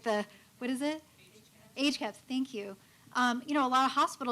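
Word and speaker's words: HCAHPS: Age caps.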